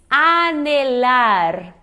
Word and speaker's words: anhelar: E se diz anelar. Anelar. Muitas pessoas vem o nh e dá muita vontade de fazer esse som do português do nh, né, que é um nhã.